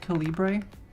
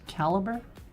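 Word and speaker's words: calibre: So, there's this program called Calibbre. At least that's the way I thought it was pronounced, but my friend says it's pronounced caliber.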